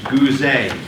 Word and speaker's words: Gooze: There was a Vistage speaker I saw 20-some years ago named Mitch Gooze, G-O-O-Z-E. Write it down. Accent on the E.